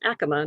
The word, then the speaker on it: Acoma: Yeah, and it's pronounced Acoma, not Acoma. For those of you who